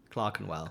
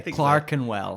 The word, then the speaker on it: Clerkenwell: like the walkability of clerkenwell Clark andwell oh is that how you pronounced it yeah okay Clarken well yeah yes okay fine